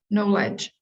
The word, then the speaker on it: knowledge: pronunciation of this word knowledge knowledge knowledge knowledge knowledge yeah so the vowel sound changes from o uh o sound an o sound to an ah oh sound knowledge knowledge which you could